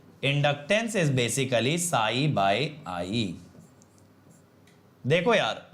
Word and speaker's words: psi: साई is equal to एल आई, इसे साई बोलते हैं, जो साउथ वाला नेम है ना SAI, वैसा ही साई, बट वो अलग बात है, इसकी जो स्पेलिंग होगी वो PSY होगी साई, बट आप साई समझो, साई बाबा।